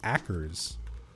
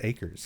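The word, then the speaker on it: Ackers: I've only seen it written down, so I always thought it was Akers. Maybe this'll interest you. But apparently it's pronounced acres.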